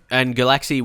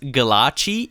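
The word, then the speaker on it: Gulácsi: Muller will drop out, and Galaxy, we're trying to sell him. So actually, I think it's pronounced Galachi. Is that right? I think I heard that somewhere before.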